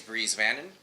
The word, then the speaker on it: Bries Vannon: Our guest today is Bries Vannon. That's correct. That's how you pronounce it.